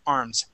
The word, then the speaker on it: arms: But, when I say arms is really, I pronounce that S or that voiced S very quickly, arms. Okay. Mm-hmm. So even though it may sound like it's a S sound, it's not, it's a Z, arms.